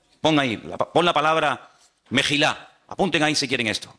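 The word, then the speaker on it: מחילה: ahí, mejilá y majalé, en hebreo se escriben sin vocales. Se escribiría una M, una J y una L, porque no hay vocales en hebreo. Es decir, que la misma palabra se puede leer como mejilá o se puede leer como majalé.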